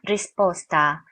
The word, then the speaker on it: risposta: 일반 적 으로 'S' 는 이중 자음 소리 이지만 , 좀 더 부드럽게 발음 해야 합니다 . 그러니까 "risposta", "nestaro", " nascosta" 처럼 발음 할 때 , 이중 자음 처럼 들리지만 , 실제로 노래 할 때 는 더 부드러운 'ta' 소리 에 가깝다는 것 을 기억 하세요 .